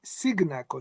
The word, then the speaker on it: Cignacco: It's an Italian surname is Signakaco.